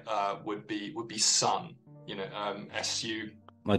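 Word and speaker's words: Sunn O))): uh so it's Sun s-u-n-n then with a silent uh zero and a series of parentheses of them but I'm I'm reliably informed it's just pronounced Sun okay and uh there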